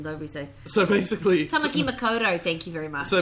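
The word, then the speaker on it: Tāmaki Makaurau: Can you say it like a Kiwi, please, and don't be so... So basically... Tamaki Makoto, thank you very much.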